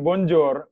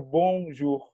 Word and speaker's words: Bonjour: kata Bonjour gitu Bonjour Tapi semua bacanya bukan Bonjol bacanya bongsu jadi kayak gongzuo kita jadi